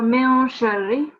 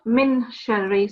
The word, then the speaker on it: مِن شَرِّ: So it's min sharri, again, wa min sharri throughout. It's not min sharri, so you don't pronounce the noon, but it's a nasal sound in your mouth, min sharri.